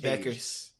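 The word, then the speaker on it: Bueckers: a UConn player, and I get her last name wrong. I don't even want to attempt it. Paige Beckers. Yeah, Beckers.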